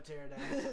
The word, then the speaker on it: pterodactyl: Could you ever have a pterodactyl? It's not with a P. Yeah. I believe it's silent.